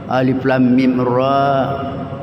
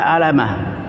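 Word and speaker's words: الم: huruf yang terputus-putus atau huruf hijaiyah cara membacanya sesuai dengan namanya Alif Alifun lamun mimun Alif Lam Mim sesuai dengan namanya Yasin Jadi kalau orang tidak tahu mungkin bisa dibaca Alama k Alif Lam Mim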